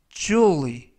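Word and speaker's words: jewel: 일부분이다 라는 표현이 되겠습니다 이본 표현은 쥬 의 쥬 의 주 의 라고 발음 하시고요 이 때 유의하실 점은 주어 의가 아니라 주 의 주위가 아니라 주의라 는 발음의 가깝습니다 품사는 명사 뜻은 보석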